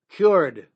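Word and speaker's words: Kyoord: The best one I recommend to everybody is from a company that's called cured, but it's spelled K like kick. K Y O O R D.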